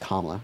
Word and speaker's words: Kamala: I'm voting for Kamala Harris because also her name is pronounced Kamala, okay?